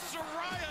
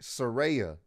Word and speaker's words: Saraya: for the arrival of Soraya in aew it's pronounced sarit Saraya actually in English language it's Soraya SAR doesn't make a Seer sound s-e-r makes a sear sound not you telling me